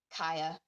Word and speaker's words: Kya: Her mother's name was Kaya, and I really liked that name, so I decided to name one of my OCs Kaya. It's spelled Kya.